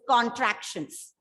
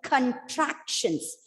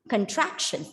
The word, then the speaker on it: contractions: to pronounce it as contractions but remember it is contractions the stress is on the penultimate syllable as we have learned